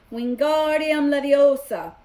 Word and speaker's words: Wingardium Leviosa: having much more luck Wingardium Leviosa you shouted waving his long arms like a windmill you're saying it wrong Harry hurt Hermione snap its wingardium Leviosa make agar nice and long you do it then